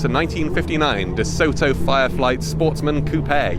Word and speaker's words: coupe: 1959 DeSoto Fireflight Sportsman Coupe your Coupe because that's how the Americans say it for some reason massive massive car even